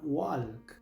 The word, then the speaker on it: walk: Muchos pronuncian esta palabra walk, pero aquí la l es muda, así que solo se pronuncia la W, la A y la K.